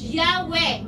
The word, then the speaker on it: Yahweh: And yung sabi dito, Jewish, and yung sabi dito, is pronounced Yahweh, Yud-He-Vav-He.